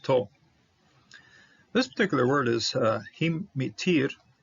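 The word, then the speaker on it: הִמְטִיר: This Shiva should be silent based on the rules, because when Shiva follows a short vowel, it shouldn't be pronounced. But to say this word, mitir, rain, I prefer to give a little punch to this one.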